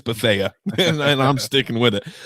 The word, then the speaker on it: Bethea: He was Bethea forever to me, and then all of a sudden somebody's like, "Oh, it's actually Bethea." Like 4 years in, I'm like, "No, it's Bethea," and I'm sticking with it.